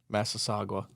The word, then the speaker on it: Massasauga: And then they've got this Masagua. I don't even know how you say it. Massasauga.